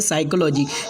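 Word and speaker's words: psychology: या टी आए तो पी जो है तो साइलेंट हो जाएगा। जैसे कि पहला वर्ड है निमोनिया, दूसरा वर्ड है साइकोलॉजी, यहाँ पर पी को नहीं पढ़ा जाएगा।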